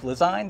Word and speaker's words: Lezyne: a behind-the-scenes tour of lasagne that i pronounce that right design correct like design cool and we're here